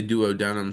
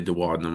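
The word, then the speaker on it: duodenum: people say dood denum some people say dadum I've always said dadum so uh I don't know the pronunciation on that is super critical I think maybe if you're British you say it one way um but anyway in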